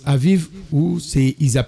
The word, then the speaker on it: Abib: Vous sortez aujourd'hui au mois d'abib hein, ça se prononce Aviv ça le mois de Nissan euh dans le calendrier actuel chez les juifs.